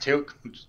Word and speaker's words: TEALC: you choose his name for yourself um it's pronounced tilt fairly easy but i started as